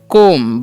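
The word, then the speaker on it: comb: पढ़ते फ्यूल ठीक है इसे पढ़ेंगे कोम ब साइलेंट करना य पर ठीक है ये ध्यान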